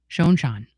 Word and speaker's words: Schon: new one so many times about how I pronounce Neil's name. So what is it? Schon or Schon? Schon.